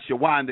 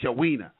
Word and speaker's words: Shina: how how are you my name is not shawanda it's Shina uh excuse me well